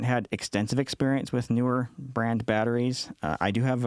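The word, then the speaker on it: Neewer: This one's from Newer. And by the way, I have asked the company how they pronounce the name, and it is pronounced Newer, even though it's spelled with 2 E's.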